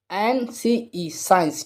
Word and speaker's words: science: ठीक है, साइंस, तो यहाँ पर देखें SCIENCE, साइंस। ठीक है, तो यहाँ पर भी देखें एस के बाद में क्या है, सी, तो सी तो हो जाएगा साइलेंट। ठीक है, तो हम इसके लिए क्या पढ़ेंगे, साइंस।